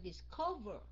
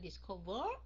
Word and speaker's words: discover: So đây mình nhấn âm 2 mà phải không? Mình đọc là discover. Discover. Mình đâu có đọc là discover. Khi nào mình đọc discover thì các anh chị nhớ double, ok?